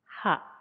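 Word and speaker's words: ハ: Ha, hi, fu, he, ho. Katakana ha, pronounce as ha.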